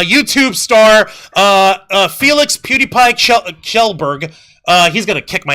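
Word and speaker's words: Kjellberg: so okay uh YouTube star uh Felix PewDiePie kelberg uh he's gonna kick my ass for mispronouncing his last name gelberg uh slammed content creators like Johnny Somali for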